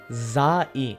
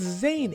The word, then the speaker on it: Zane: now like I said I thought zann was a pretty easy pronunciation for the colonizers but then she went ahead and said Zim I mean genuinely I don't know how in tarnation you messed it up that much like why are you pronouncing every syllable literally like bro it's Zane it's not that hard it's the most like